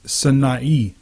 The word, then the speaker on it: Sinai: into the wilderness of Sinai, or it's Sinai, and that's how you pronounce that in Hebrew.